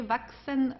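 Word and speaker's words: wachsen: Vaxen vashen. Uh, CHS is pronounced like an exvaxen. Okay, just for you to know this combination of the three letters, vaxen.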